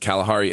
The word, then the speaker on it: Kalahari: This is an additional reference to the hidden Kalahari in her name, which is pronounced Kalahari as in come.